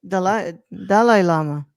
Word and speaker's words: Dalai Lama: That's how you actually pronounce it, though, Brad. Dalai Lama.